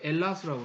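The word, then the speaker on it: Ελλάς: 자기들이 헬라스 사람이다라고 해요. 헬라스. 이제 영어에서는 그리스 사람이라는데 자기들은 헬라스. 발음을 어떻게 하냐면 이제 H를 빼서 엘라스라고 하기도 하고, 엘라스 이게 그리스란 말입니다.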